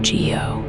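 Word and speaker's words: guyot: There is also a feature called a guo pronounced geo which is a seamount with a flat top.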